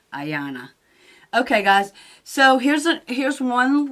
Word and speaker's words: Ayana: Anyway, here's another look, final look at the little Anya. I want to say it's Anya. I could be wrong. Let me look it up and see how you say it. I was wrong. Ayana.